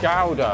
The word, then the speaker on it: gouda: is it gouda or is it gouda gowda gouda sorry sorry i wasn't very